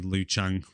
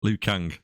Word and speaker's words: Liu Kang: best character my best character got to be L Chang you say his name Liu Kang Liu Kang we've butchered the names again this week every single